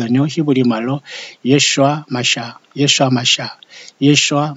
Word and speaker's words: 예슈아: 예수님은 메시아 다른 뜻인 것 아뇨 히브리 말로 예슈아 마샤 예수 아마 샤아 이슈화 맛이 아 이게